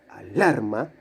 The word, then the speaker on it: alarma: La sílaba tónica, la sílaba fuerte, alarma, lar, es la del medio.